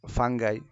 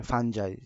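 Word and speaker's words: fungi: সম্পর্কে পরিচিত যে আবার ফাঙ্গাই এই ব্যাকটেরিয়াটা হচ্ছে মনেরা রাজ্যের মনেরা রাজ্যের অন্তর্গত ফাঙ্গাই ফাঙ্গাইটা হচ্ছে ফাঞ্জাই যেটা আমরা ফাঙ্গি অথবা ফাঞ্জাই আমরা দুইটাই উচ্চারণ করতে পারি প্রোটোজোয়া প্রোটোজোয়া ছিল প্রোটি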